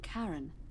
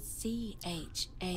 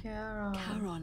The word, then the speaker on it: Charon: It's just as you described it, only your pronunciation is a little off. The name you heard wasn't Karen. It was C-H-A-R-O-N. Oh no. As in Charon.